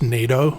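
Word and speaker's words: nyatoh: ever heard of before it's spelled n-y-a-t-o-h but I've seen online that it's actually pronounced NATO I did some research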